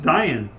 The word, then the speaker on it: Daean: Dea, as their nation was known, and therefore it's spelled Daean, pronounced Dayan.